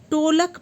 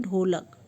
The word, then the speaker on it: ढोलक: छह number question है बच्चा किसी शब्द को टोलक पड़ता है उसका सही उच्चारण क्या है उसका सही वितरण है ढोलक नेक्स्ट क्वेश्चन नंबर 10